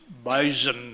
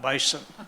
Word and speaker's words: bison: It's bison, not bison. The closer you get to the Canada line, the harder the Z becomes. Yeah, or the Z, I guess.